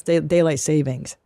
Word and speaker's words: daylight saving: It's not daylight savings and loan. Yeah. It's daylight saving.